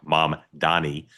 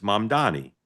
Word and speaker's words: Mamdani: By the way, when people hear me say it, and you don't think I'm saying it right, it's my Maryland accent. I know exactly how to say his name, Mom Donnie.